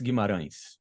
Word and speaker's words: Guimarães: It's Gimaran, but that's fine. The way you pronounced it. Okay. Gimaran.